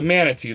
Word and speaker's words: Manitou: Yeah, that is the Manitu. That's how you say it.